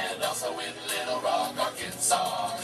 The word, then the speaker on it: Arkansas: also in Little Rock, Arkansas. It ends with an S, but don't say it, boy, with mentioning Springfield, Illinois.